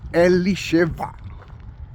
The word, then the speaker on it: Elisheva: And if I'm talking about Elizabeth, then you must understand that the name of Elizabeth in Hebrew is Elisheva.